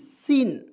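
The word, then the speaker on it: scene: यहाँ देखिए एस सी ई एन सी, सीन, क्या पढ़ेंगे, सीन पढ़ेंगे, इसमें एस के बाद यहाँ पे जो सी है इसको हम लोग साइलेंट करते हैं, ठीक है ना।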